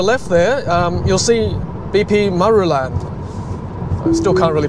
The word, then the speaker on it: Marulan: Okay, so on your left there, you'll see BP Marulan. I still can't really pronounce that, sorry.